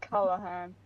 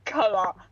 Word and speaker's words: Callahan: My name isn't pronounced Callahan. It's Callahan.